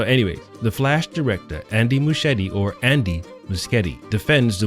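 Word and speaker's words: Muschietti: The Flash director Andy Machete. Is it Machete or Muscet? I've seen people or heard people say his name very differently. He looks like Machete, but some people say Muskeetti.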